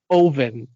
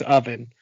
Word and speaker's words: Ovan: little bit, but it's Ovan. Ovan is his dad's name. like an oven, but not. Yeah, I don't want to pronounce it as oven because that sounds ridiculous.